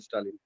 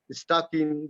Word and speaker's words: Stalin: But in my village, some of the people they cannot pronounce it properly. They call me Stakin.